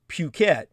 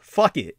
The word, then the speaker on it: Phuket: I was talking about the Thai city of Phuket, Phuket. And of course, that's really not how many people pronounce it. There's many dialects in Asia that read it just the way it's spelled. Fuck it, Phuket.